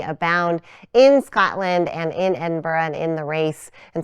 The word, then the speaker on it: Edinburgh: who are like us you may be tempted to read this word here on the sweatshirt and say Edinburg Edinburg but we don't say it like that nope now you know the official way to say it and if you're confused it is Edinburgh it's a little bit soft on the end but if it feels